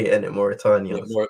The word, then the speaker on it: Mauritania: Mauritania. Yeah, Mauritania, yeah.